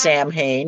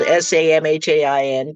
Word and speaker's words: Samhain: Celtic holiday called Samhain, which looks, by the way, like it should be pronounced Samhain. And that's why there are so many horror movies and stories that have characters named Sam Hain in them. It is spelled Samhain, but pronounced Samhain.